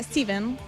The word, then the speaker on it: Stephen: Estamos hablando de Peter, el libro de Stephen King, que en realidad se pronuncia Steven.